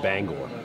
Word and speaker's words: Bangor: pronounced Gwen out of Bangor Maine it's actually pronounced Bangor Bangor Bangor Bangor Bangor Gore Gore Gore banger